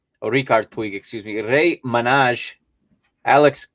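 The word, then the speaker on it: Riqui Puig: had emerson samuel umtiti nico gonzalez alejandro balde richard twig or ricardo twig excuse me ray manage alex collado enachi pena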